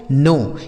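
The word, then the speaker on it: know: इसे क्या पढ़ा जाएगा दोस्तों? नो। के एन ओ डब्ल्यू इसे पढ़ा जाएगा नो। देखिए यहां पर जो के है ना यह साइलेंट है। इसको नहीं पढ़ा जाएगा।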